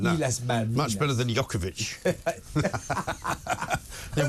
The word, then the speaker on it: Islas Malvinas: The Argentinian That's a good pronunciation, that. Islas Malvinas.